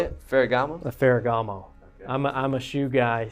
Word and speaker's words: Ferragamo: A Ferragamo.